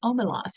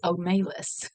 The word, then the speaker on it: Omelas: it's kind of fun I just don't really like the way that the guy pronounces omelos he says omalis and I just kind of like his like nails on chalkboard to me so I'm going to